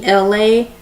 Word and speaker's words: Elay: This is me, Elay, pronounced like LA like the city.